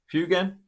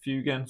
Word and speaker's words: Fuegan: I pronounce his name um, Fugan. Sometimes I do switch into Fagan, but I'm pretty sure it's um fugan and it's easier to say.